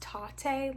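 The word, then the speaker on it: Tatte: went to what it's actually pronounced tate like latte um there was a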